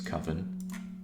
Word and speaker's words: Coven: I think it's Coven. It's like oven with a C in front of it.